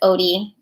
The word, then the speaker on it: Odie: my nickname is Odie. Ode to Joy.